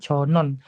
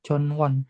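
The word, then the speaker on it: 전원: 근거에 kalau kayak gini, ini W-nya kalian bisa hilangkan ya, jadi dibacanya itu Jonon. Jadi nggak usah Jonwon, tapi Jonon. Jadi bukan Jonwon, tapi W-nya dihilangkan. Jadi Jonon Jutekel, kayak gitu ya. jadi W-nya dihilangkan cara bacanya.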